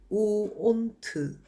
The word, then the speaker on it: won't: 이거 읽으실 땐 won't 라고 읽으시면 좋습니다. want와 조금 다르게 읽으셔야 합니다. 원하다는 want, 그리고 하지 않을 것이다는 won't. 좀 더 우 소리를 강조하면서 읽으세요.